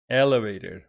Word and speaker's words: elevator: Elevator with the stress on the second syllable.